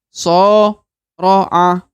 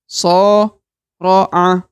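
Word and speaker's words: صارع: Maka cara bacanya soro'a, soro'a, soro'a. Jadi yang panjang adalah so. Sedangkan ro dan a itu dibaca normal satu harokat.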